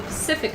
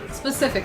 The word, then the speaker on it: Pacific: Yes, I need to be able to call it the Pacific Ocean and not Specific Ocean.